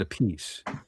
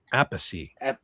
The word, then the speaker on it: Appice: Carmine pronounces it a piece. Vinny pronounces it Appice.